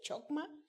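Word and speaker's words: חכמה: En hebreo es la palabra, la voy a leer como la leo, creo que no se pronuncia así, pero es chokma, que significa, ¿sabe qué?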